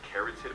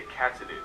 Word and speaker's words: katydid: For some reason I remembered it as a carotid, but it's actually a catidid, and it's also known as a bush creek.